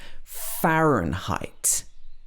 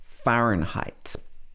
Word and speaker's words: Fahrenheit: This is a German word, but in English, it's pronounced Fahrenheit. Fahrenheit.